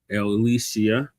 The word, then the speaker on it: Ilyasah: Elisia.